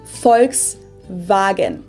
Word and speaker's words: Volkswagen: f and v instead folks wagon this literally means people's car or oops because it's supposed to be like in v instead of four w so far yeah car